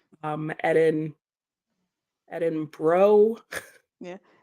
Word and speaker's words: Edinburgh: um yeah the city that most Americans can't pronounce correctly yes I can go through all varations yeah edinberg edin burrow um edin edin bro yeah it's edin bruh yeah I I know that but I'm not